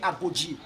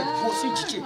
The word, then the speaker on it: Gossi Djité: C'est ça que les Français ne pouvaient pas bien prononcer, ils ont commencé par écrire Agodji. Non, c'est Gossi Djité.